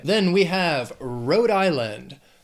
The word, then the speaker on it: Rhode Island: Then we have Rhode Island. 3 syllables, stress is on that, the first syllable of the second word, island, Rhode Island.